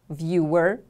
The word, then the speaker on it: viewer: television program a viewer viewer repeat after me please viewer the stress is on the first syllable now you can see